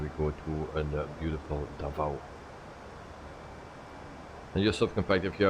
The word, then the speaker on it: Davao: And then we go to the beautiful Davao.